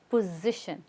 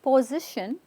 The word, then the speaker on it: position: is position position again the S is like a z position not position we're not trying to get the S right position it's not even po it's p position good position very good